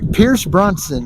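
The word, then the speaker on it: Pierce Brosnan: If you watched one of the how do you pronounce his name? Pierce Bronson, yeah.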